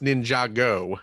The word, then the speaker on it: Ninjago: Java okay first of all it's pronouncing it's pronounced Ninjago yeah and Michael Keaton was not involved in